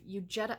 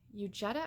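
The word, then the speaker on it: Huguette: by the name of u Jetta I think it's you Jetta or Eugenia it's h ug but I know the H is silent we'll call her mrs.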